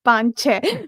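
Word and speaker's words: Panc Ashash: The lady Punk Ashash, who's apparently named for 5 and 6 in Hindi, so it should technically technically be pronounced Panche, but the um, audiobook narrator called her Pankashash, so I'll call her that too.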